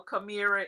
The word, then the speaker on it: Kemamira: And a lot of people tend to miss the pronunciation. So Kamira is the proper pronunciation.